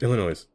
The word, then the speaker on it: Illinois: say every word wrong Illinois no I say noise I'll never hear the